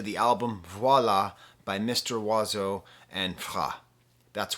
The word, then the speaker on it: Oizo: possibly give to the album voila by mr wazzo and that's wazzo spelt o-i-z-o i'm just saying it right up